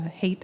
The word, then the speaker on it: Haidt: The Righteous Mind by Jonathan uh Hate, I think his surname is pronounced.